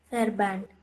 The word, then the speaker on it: Verband: V வந்து F pronounce பண்ணணும் இல்லைங்களா? Verband.